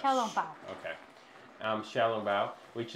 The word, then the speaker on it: Xiao Long Bao: The only thing I think they didn't alter is Zhao Long Bao. Oh, Xiao Long Bao. Yeah, how do you say that, by the way? Xiao Long Bao. It's Xiao. Yeah, like Xiao Long Bao.